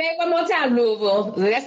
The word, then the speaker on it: Louisville: So I'm from Louisville, and I was Say it one more time, Louisville.